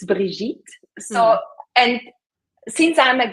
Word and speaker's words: Brigitte: French, it's Brigitte.